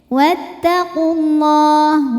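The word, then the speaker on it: وَاتَّقُوا اللَّهَ: Wattaqullah. Lam pada lafaz Allah atau lam jalalah dibunyikan secara tafkhim karena huruf sebelumnya berbaris dhammah, maka dibacanya tebal.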